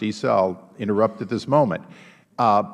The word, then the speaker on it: Issa: so uh and since my name is normally pronounced e-cell interrupt at this moment